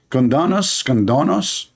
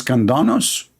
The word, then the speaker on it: Candace: How you say her name? Condonos? I want to share my condolence with your mom about having a kid like you. Her name is Candace, Candace, yeah.